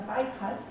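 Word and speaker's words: Pallccas: Hace dos semanas estuve en un pueblo que se llama Paijas, P-A-L-L-C-C-A-S, en hecho se pronuncia Paijas, que queda a 3 horas de Chungi, que queda a 10 horas de Huamanga.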